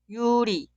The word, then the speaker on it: 유리: La primera sílaba suena 유, 유. Y la sílaba al lado suena 리, 리. Esta palabra se pronuncia 유리, 유리, 유리.